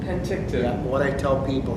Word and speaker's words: Penticton: to spell it is you start with a pen that you write with, and then you have a tick, okay, like you get in your hair, and then a ton, which is a weight.